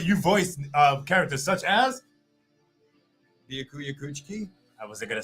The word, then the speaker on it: Byakuya: And how do you say the name properly? Byakuya? Nope. No. Byakuya.